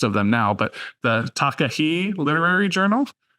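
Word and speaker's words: Takahē: forget all the other stuff I'm going to mispronounce. So it's just a long list of them now. But the Takahe Literary Journal. Takahe.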